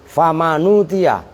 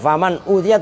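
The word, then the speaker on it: فمن أوتي: kalau di situ berarti famanutia binakli dhammatil hamzah ila, berarti bacanya begini, famanutia, bukan faman utia tapi famanutia.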